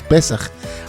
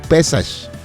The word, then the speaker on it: Pesaj: festejos de la Pascua, que en hebreo es Pesaj, alguien que nos visitaba me quiso corregir pronunciándola como pesag. Pesage, porque la leí en inglés y en inglés pesaj se escribe con ch al final, pero su pronunciación sería más bien algo como pesac.